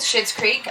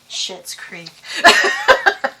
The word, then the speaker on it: Schitt's: you know, maybe a crossover with Schitt's Creek.